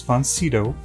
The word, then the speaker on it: von Sydow: Max von Sydow. Well, I've heard it pronounced a couple of ways, like Max von Sydow, Max von Sydow.